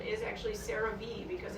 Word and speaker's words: CeraVe: the pronunciation is actually CeraVe because it stands for ceramide vehicles they were one of